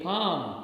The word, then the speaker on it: palm: Okay, palm, P-A-L-M. Here again letter L remains silent.